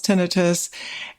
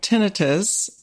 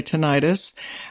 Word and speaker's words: tinnitus: So first of all, tinnitus is how we pronounce it. Some people say tinnitus, but the correct or medical pronunciation is tinnitus, and it is ear ringing.